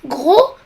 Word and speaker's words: gros: C'est le cas de l'adjectif gros. Le S ne se prononce pas, mais il se prononce grosse dans son féminin.